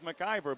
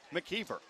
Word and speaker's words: McKeever: pressure on nathan mckeever you'd swear his name is macgyver but it is pronounced mckeever playing on the penguins